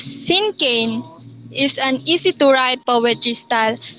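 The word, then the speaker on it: cinquain: Sinkane is pronounced as Sinkane, is an easy-to-write poetry style as it has only 5 lines with few words in each line.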